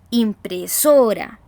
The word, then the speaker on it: impresora: Es porque la voz se carga en esa sílaba. Decimos impresora, ¿cierto?